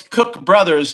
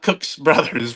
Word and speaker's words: Cook Brothers: ter I have a good friend of mine that calls Cook Brothers Cooks Brothers and it's Well, it's Cook Brothers, not Cooks Brothers, but it's just, you know, and then I guess uh like like Tangi components.